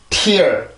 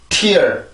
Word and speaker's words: tear: 자, 발음해보고 넘어갈게요. tear, tear, tear.